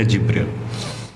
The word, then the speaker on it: Jibril: Maka dia memanggil malaikat Jibril. Kalau dalam literatur mereka disebutnya Gabriel. Gabriel ya. Ditulisnya Gabriel. Kita membacanya Jibril.